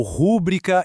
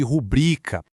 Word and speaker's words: rubrica: É quando alguém fala gratuito em vez de gratuito ou rúbrica em vez de rubrica. A pronúncia dos sons pode até estar certa, mas a entonação, o acento tá no lugar errado.